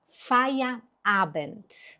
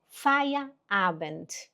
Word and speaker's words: Feierabend: Palavra de hoje é fire abent. Você consegue repetir? F abent.